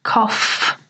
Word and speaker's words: cough: spelling and pronunciation so even though there's a GH the pronunciation is cough with f three when your